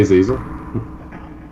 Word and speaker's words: Azazel: Azazel, it's good to see you. Good to see you. I was gonna say chief, but Hey, I don't know. I'm trying to get away from that word. hey, Azazel.